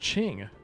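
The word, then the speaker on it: Qin: Oh, it's pronounced Ching.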